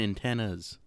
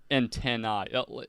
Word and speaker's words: antennae: Antennae. Like, it's pronounced antennae. You know what I mean, right? Yeah, I think I know what you mean, yeah. Not like if you're talking about an ant's antenna, you don't say antennas.